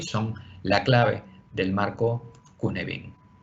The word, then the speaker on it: Cynefin: Sí, y se escribe así Sainefin o Cinefin, pero se pronuncia Cunebin porque también así se pronuncia en galés.